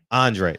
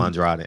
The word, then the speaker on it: Andrade: How do you pronounce his name? Andrade. Okay, thank you. Because I've been calling him Andrade. Andrade. Okay, thank you. The E is silent.